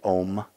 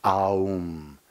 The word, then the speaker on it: Aum: The interesting thing about the word Aum, a lot of people say Om, but it's not pronounced that way. It's pronounced Aum. A, U, M. Those are the 3 primordial sounds.